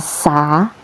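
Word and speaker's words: سَ: Ini namanya huruf sin diharakati fathah dibaca sa.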